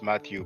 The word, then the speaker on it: Mathieu: Now, Mathieu is what you pronounce Matthew, but you have the name written in the title.